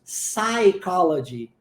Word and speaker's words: psychology: o pronunciamos nós dizemos psychology ok a gente não pronuncia o p viu a diferença então